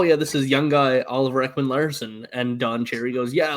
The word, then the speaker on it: Oliver Ekman-Larsson: of Don Cherry and his complete blunder of pronouncing names. My favorite is Ron McLean tells him, oh yeah, this is young guy Oliver Ekman-Larsson, and Don Cherry goes, yeah, look at Oliver Lossum Tossum.